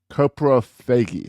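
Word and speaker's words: coprophagy: This is a behavior called copagy.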